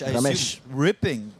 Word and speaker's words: Romesh: Romesh, how do you say his name? Romesh.